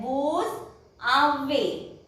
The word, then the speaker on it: vous avez: Then vous avez. This is also here again S is followed by a vowel, so it will pronounce as vous avez.